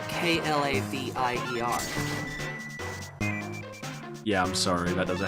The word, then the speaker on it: Klavier: Is it Clavier? I had nothing for you without being able to see the spelling. It's Klavier.